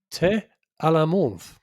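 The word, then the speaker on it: thé à la menthe: Morocco's national drink is the mint tea or as we like to pronounce it in Morocco, te alamont.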